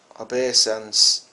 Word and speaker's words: obeisance: and the moon and the 11 stars made obeisance to me. Genesis 37:9. Obeisance. That's how you pronounce it.